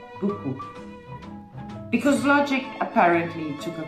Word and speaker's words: beaucoup: Consider this word, beaucoup. You'd expect it to sound like bio cup, but no. French says beaucoup, because logic apparently took a coffee break.